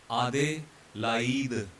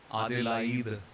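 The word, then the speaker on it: Adélaïde: It is a city in Australia, Adelaide, but in French they would pronounce it as Adelaide. Adelaide. A is separate, it is pronounced as A, and I is pronounced as E.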